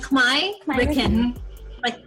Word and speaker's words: Khmerican: Like Khmerican, like Puerto Rican.